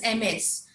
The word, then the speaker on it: Ms: The pronunciation is called Ms, and Ms is the one.